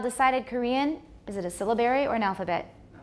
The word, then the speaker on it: syllabary: syllables rather than segments stress is on the first syllable syllabary syllabary it's called a syllabary